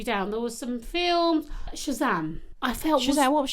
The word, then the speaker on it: Shazam: you yeah sorry although my husband says I say shizam sham Shazam wow rhymes with Edam mhm you know when